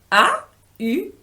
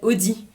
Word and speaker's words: Aude: C'est très court, juste 4 lettres : A-U-D-E. Ça se prononce Aude, parce que A-U en français c'est le son "O". Mais parfois les anglais m'appellent Audi, comme la voiture...